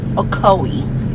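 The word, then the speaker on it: Ocoee: c o e e Co there we go okoi took it to okoi Florida took me a minut register took to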